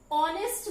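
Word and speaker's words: honest: ऑनेस्ट को जब हम प्रोनाउंस कर रहे हैं तो साउंड निकल रहा है अ एक स्वर ध्वनि है, वोवेल साउंड है, इसीलिए ऑनेस्ट से पहले हम आर्टिकल एन लगाएंगे।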